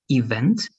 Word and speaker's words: event: stress is in the last part. Event, event, event. In the last part, the stress.